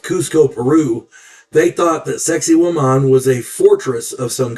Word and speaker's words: Sacsayhuaman: Yeah, it sounds a lot like sexy woman, but it's pronounced Sacsayhuaman. Put the accent on that last A, woman.